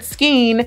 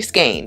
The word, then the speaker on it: skein: heard skein i've heard skeen it's actually skein and if you think about it it's no skein no gain that's how you pronounce skein when you go to